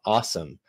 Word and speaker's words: OSOM: And that's an acronym, OSOM, O-S-O-M, pronounced awesome.